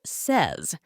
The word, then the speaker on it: says: spelling and pronunciation evolved even though says looks like it should rhyme with pays it actually rhymes with Pez the pronunciation changed but